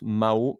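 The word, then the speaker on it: Mahau: lespelé parce que euh ça se prononce Mao mais être sûr de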